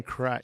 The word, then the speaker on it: Christ: John Christ. John Yeah, Christ. or whatever. Yeah. Interesting last name being that he was a Christian-based I think comic. he pronounces it Chris, but you're right. It is Christ.